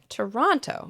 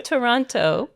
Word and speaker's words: Toronto: Ontario's capital city because it has two T's, but nobody here says it that way.